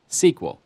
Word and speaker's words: SQL: for structured query language you'll often hear sql pronounced as an acronym sql these commands to retrieve